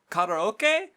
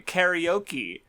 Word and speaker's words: karaoke: Karaoke, which I remember because people fucking butcher the shit out of that. Yeah. Karaoke.